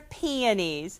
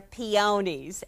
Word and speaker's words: peony: Well, depending where you're from, the flower is pronounced different ways. Well, I grew up in Pennsylvania, so they're peonies. Linda grew up in California, so they're peonies. And southern folks call them pineys.